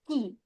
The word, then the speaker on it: qui: This is que, whereas the pronunciation of this is qui. So this is qui and que.